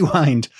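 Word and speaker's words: Wynd: is a Wanderer so I'm going to go with wind because that's the modern Scottish pronunciation of so apart from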